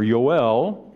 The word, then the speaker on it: Joel: very bad as well Joel or yoel the Hebrew pronunciation of this was one of those